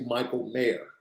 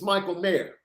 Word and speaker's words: Michael Mayer: but it's actually Michael Mayer, as in the mayor of a city. Okay. It's supposed to be pronounced mayor.